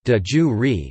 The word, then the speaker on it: de iure: Latin pronunciation, de jure, describes practices that are legally recognized, whether or not the practices exist in reality.